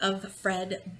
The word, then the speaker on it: Offred: a handmaid named Alfred it's probably of Fred but it's spelt kind of like offered Offred and I actually thinks